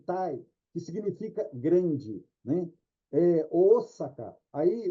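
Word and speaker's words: Ōsaka: Osaka. Aí o japonês, quando lê esse símbolo, ele prolonga esse som, o, ele não faz o, faz Osaka, Osaka, né?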